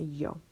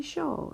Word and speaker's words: yo: on where you are this yo might be pronounced a little bit differently if you know Argentina it's gonna be show if you're in parts of Mexico it's gonna be more like a Joe Joe but yo you can